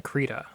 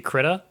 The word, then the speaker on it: Krita: I think we know how to animate in Krita now, actually. And I do feel like maybe I've been pronouncing it wrong the whole time, and it's supposed to be Krita, like that person said.